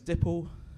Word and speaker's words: Dipple: said, hi, my name's Dipple. And she said, nipple? And I said, no, it's like nipple, but it's spelt with a D.